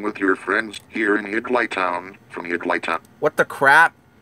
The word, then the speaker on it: Higglytown: If you want to pronounce it correctly, Sam, pronounce it, like, you need, someone needs to space it, like, they need a space in between Higgly and Town. Then he will pronounce it Higgly Town.